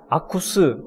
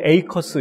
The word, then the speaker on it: AKUS: 아쿠스 혹은 어떤 분은 에이커스 이렇게 발음을 하기도 하시는데, 한미연합회 드디어 본격적으로 공식으로 출범을 하게 됐습니다.